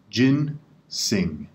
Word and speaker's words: ginseng: two syllables in ginseng jinn sing jinn sing the first syllable is jinn like well jinn the second syllable is sing like sing ah you don't want